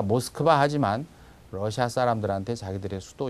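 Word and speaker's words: Москва: 그 다음에 러시아의 수도 우리는 보통 모스크바 그러는데 강세가 뒤에 있죠. 그래서 와는 맞는데 앞에 있는 오를 오라고 하지 않고 얼버무려서 모스크바 이렇게 합니다. 그래서 우리는 다 모스크바 하지만 러시아 사람들한테 자기들의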